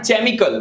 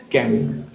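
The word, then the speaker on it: chemical: not nest but honest केमिकल नॉट चेम कल what is इट केमिकल monarchy not monarchy monarchy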